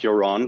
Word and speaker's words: Yaron: you this morning and my name is pronounced joran but thank you um